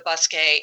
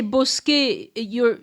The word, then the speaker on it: bosquet: So when you say bosquet, that's spelled Bosquet. Yeah, I think it's Bous, or it could be it's Bos.